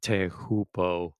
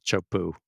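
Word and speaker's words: Teahupo'o: called chopu uh that the announcers always pronounce it te hoo but everybody in the surf Community always just pronounces as a chopo or chopes their first day was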